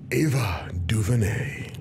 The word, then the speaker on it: Ava DuVernay: Ava DuVernay. Is that how you pronounce her name?